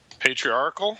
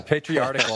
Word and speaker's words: patriarchal: So, how do you pronounce that, Matt? Patriarchal? Okay. Yeah, you said article. Yeah, patriarchal.